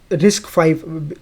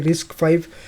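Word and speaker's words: RISC-V: आर आई एस सी वी या रिस्क फाइव इसको हम लोग ऐसा प्रोनाउंस करते हैं रिस्क फाइव।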